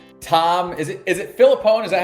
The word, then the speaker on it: Filippone: home inspector on tom is it is it phillipone is that how you pronounce last name philippon you got you nailed it you nailed it